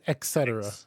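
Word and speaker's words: etc.: god okay etc etc so people will say etc yeah ex so it's etc right for a long time i thought it was um x and then i was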